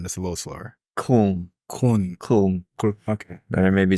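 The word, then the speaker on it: Köln: Kun.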